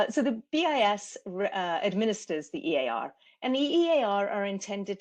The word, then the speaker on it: EAR: the Export Administration Regulations, abbreviated as EAR, looks like ear, but we pronounce it EAR.